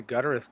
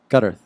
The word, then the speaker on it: Gutterth: No, How do you say it? Gutterth. What did I say? Guttereth? Guttereth. It's not a metal band. I haven't said it right yet.